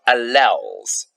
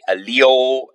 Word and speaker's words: allele: So, we then talk about alleles. Or sometimes you look at a video, they say allele, allele, however you want to say it and however you're going to remember to spell it.